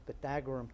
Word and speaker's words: Pythagorean: The pronunciation is the Pythagorean theorem.